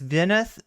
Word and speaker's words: Veneth: Make sure that you're actually, following and not unfollowing, because like it's Veneth, kind of like Vendetta, Ven and Vendetta.